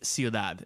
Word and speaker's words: ciudad: wait a thing is it c-u-i-d-a-d yes it's ciudad and it means city in spanish okay yeah